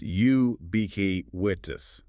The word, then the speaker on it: ubiquitous: Ubiquitous pronounced ubk witness. We need to emphasize the initial u sound and the middle stress on bak.